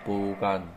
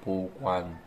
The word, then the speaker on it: 보관: 아, 보관, 아, 보관, 보관, 완. Just a little W sound is inside there.